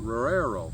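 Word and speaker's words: Roero: And can you pronounce this for me? Roro? Is it Roro, D-O-C-G? Rorero? Rorero.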